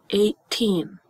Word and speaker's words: eighteen: closely that first sound sounds kind of like the letter A right a teen 18. and guess what it is the sound of the letter A this is our long a sound but we spell it with look how many letters there are e i g h all to make one sound right the letter a 18 it's supposed to be like a 18.